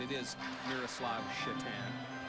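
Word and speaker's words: Šatan: if uh if it was the North American pronunciation. It is Miruslav Citan.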